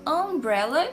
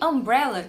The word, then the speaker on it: umbrella: Ambos começam com a letra U, mas olha como o som é diferente. Eu falo umbrella e uniform, né? Mesmo sendo a mesma letra, o som é diferente. Por quê? No caso de umbrella, que é guarda-chuva em inglês, eu vou fazer o som de vogal mesmo.